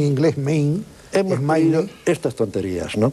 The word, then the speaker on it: Maine: la voladura del Maine, radicales. El Maine, todo aquí pronuncian en inglés Maine.